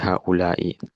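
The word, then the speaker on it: هَٰؤُلَاءِ: Dari hadza jadi hadhihi jadi haulai. Haulai ini dalam Al-Qur'an juga ada. Kalau dalam Al-Qur'an nanti haulai bacanya 5 harokat ya. Haula 5 harokat.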